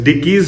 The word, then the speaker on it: Dekis: डिकीज, sorry guys मैं pronounce नहीं कर पा रहा था। सो इट्स डिकीज होम स्टे, और मैं अभी वहां का बोर्ड